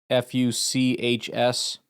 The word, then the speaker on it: Fuchs: Scott Fuchs, you got to be very careful saying that guy's name. Rhymes with books, Fuchs.